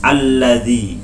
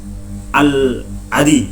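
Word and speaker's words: الذي: Alladzi bukan bukan alladzi tetapi alladzi, bukan al-adi bukan, tetapi bacanya alladzi.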